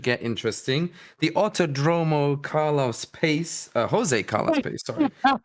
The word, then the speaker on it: Pace: Yeah, it's Pache, but I like it how you call it Pace because Autodrome Jose Carlos Pace because people have face on it. All right, this is kind of nice. I've never pronounced it like that.